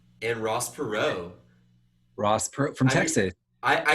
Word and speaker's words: Perot: never had a chance Ross Perot yapper out like with a silent t that's like so French it's American though it's